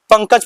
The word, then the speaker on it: पंकज: जैसे हमको पढ़ना है प अनुस्वार क ज तो इसको क्या पढ़ेंगे? पंकज पढ़ेंगे। क्या पढ़ेंगे यहां? इसका उच्चारण क्या हुआ? न के उच्चारण इसको हम लोग बोलते हैं।